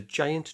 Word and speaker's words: giant: The giant giraffe gave the angry goat a generous gift. So let's break that down. Giant, soft G thanks to the I.